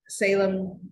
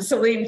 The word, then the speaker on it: Celine: and then uh so Salem saline actually his name is spelled it correctly there um Celine Chapman who was a um